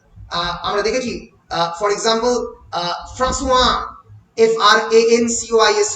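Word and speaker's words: François: For example, in French nouns and voiceless consonant, French কিন্তু প্রচুর পরিমাণে ভয়েসলেস কনসোন্যান্ট আছে যার উচ্চারণ হয় না। আমরা দেখেছি, ফর এক্সাম্পল, ফ্রাঁসোয়া, FRANCOIS, ফ্র্যাঙ্কওয়াইস, তাই তো?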